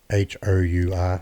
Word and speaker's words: hour: But hour is spelled H O U R. So why do we say half an hour? An hour. Only because of the sound.